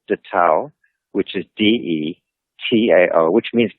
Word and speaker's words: DeTao: Our organization is called DeTao, which is DETAO, which means it's actually pronounced DeDao, which means the way.